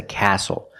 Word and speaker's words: castle: We also see the silent T when you have the spelling pattern S-T-L-E.